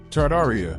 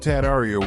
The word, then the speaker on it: Tartaria: Tartaria, originally pronounced Tataria without the first R, is the name of the pre-Mongolian empire that originated in northern Asia before spanning the entire northern hemisphere.